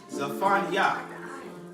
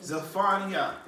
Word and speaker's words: Zephaniah: The Hebrew name is Zephaniah. Zephaniah. Everybody say Zephaniah. You spell that T-Z-E-P-H-A-N-Y-A-H.